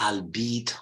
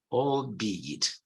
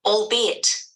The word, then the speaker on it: albeit: you it is deceiving it's not albeit or al-bite it's all deed all bead okay maybe let's see the pronunciation of this only this one cannot okay there you go albeit see albeit albeit okay